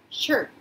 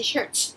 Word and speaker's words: shirt: 그리고 여자분이 파란색 셔츠에다가 꽃무늬 스커트 입고 있습니다 라고 얘기하는데, 셔츠는 한국말인 거고 영어로는 shirt 이렇게 발음해야지 shirts 하면은 잘못되는 겁니다.